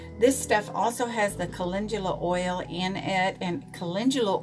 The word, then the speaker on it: calendula: I thought it was calendula. It's calendula.